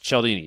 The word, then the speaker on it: Cialdini: It is spelled like Cialdini, but it's pronounced Cialdini.